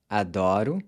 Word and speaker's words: adoro: So that was the first type of pronunciation change we see in the present tense, where the pronunciation of the O changes from close to open.